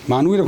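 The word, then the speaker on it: 萬彧: 만시가 있고 그다음에 욱자는 이제 혹자가 아니고 발음이 빛날 욱자. 문체날 욱. 만욱이라고 하는 사람하고 그다음에 진성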